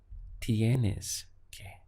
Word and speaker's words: tienes: If we want to express you have to, we take tiene, we add an S, and that gives us the sound of tienes que.